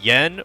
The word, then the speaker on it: yen: it's it's you know we call it yen. Well, I believe it's actually pronounced N over there. But the ironic thing is there actually is no ye sound in modern Japanese.